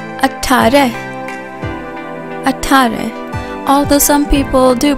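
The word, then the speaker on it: अठारह: 18 in Hindi is called Atari Atari Atari although some people do pronounce it as être you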